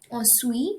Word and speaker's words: ensuite: également, which means also, ensuite, next, in ensuite, remember we do not pronounce the T, it's silent.